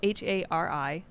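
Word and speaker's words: hara-kiri: Yeah, it's spelled HARIKARI.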